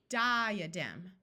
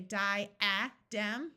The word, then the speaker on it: diadem: Diadem. Did you notice we don't say di-a-dem, but di-a-dem? The A schwas instead of having a short sound or a long sound.